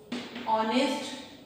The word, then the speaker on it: honest: honest word है, ऑनेस्ट मैन। ठीक है, ऑनेस्ट में क्या एच की साउंड आ रही है? नो, एच की साउंड नहीं आ रही है, बल्कि एच साइलेंट है।